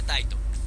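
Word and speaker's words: 𱁬: Tiene 84 trazos y se pronuncia Taito.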